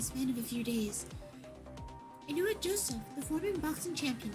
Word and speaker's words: Inoue: I'm gonna look up how to pronounce his name. Inoue.